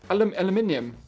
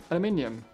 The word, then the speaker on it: aluminium: good night guys and now he said it differently aluminium aluminium so there's like a little eye in there like a like a polish version there you go yeah he did the extra eye i saw that i